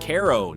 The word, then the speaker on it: Cairo: Once a booming river port at the southern tip of the state, Cairo, pronounced Cairo, not like the Egyptian capital, is now better known for its eerie silence and sky-high vacancy rate.